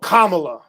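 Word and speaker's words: Kamala: know what I'm saying he's lying stop pause pronounce her name oh kamla thank you damn listen I don't I butcher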